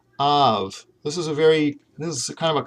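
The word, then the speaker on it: ָיו: So this, instead of I've, which is what a lot of my students say, you're going to pronounce this av, okay, av.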